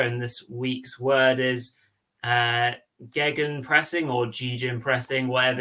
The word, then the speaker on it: Gegen: The correct way to say it is Gegen, like Gegen pressing.